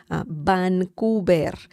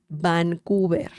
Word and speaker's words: Vancouver: the city Vancouver okay Vancouver remember the V sound in Spanish is similar to b as in Bell Vancouver Vancouver okay so there you